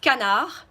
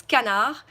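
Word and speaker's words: canard: feature duck which is canna we don't pronounce the D so it's canna and then goose which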